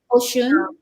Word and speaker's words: Oshun: Oshun.